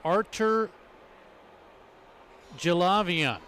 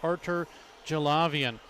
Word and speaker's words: Artur Gilavian: Finema, Anthony Sakura, and Artur Gilavian. That is the way to pronounce it. Head coach Tom Winkler said, the way I told you before is not correct. This is the correct way.